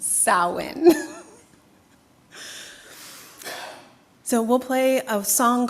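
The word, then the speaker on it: Samhain: It is the Gaelic pronunciation. So don't try to look at the word. It is pronounced sin.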